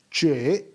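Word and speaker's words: 这: is the chinese word for this some chinese pronounce it as che student number one repeat it after me che brilliant the thing about these stones is this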